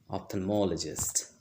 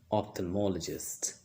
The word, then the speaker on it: ophthalmologist: ophthalmologist to have my eyes checked remember the pronunciation ophthalmologist ophthalmologist so that was all for today see you